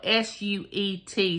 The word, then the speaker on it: suet: all right it's cut it's spelled s-u-e-t so duet is spelled d-u-e-t so I'm saying suet and dried fruit often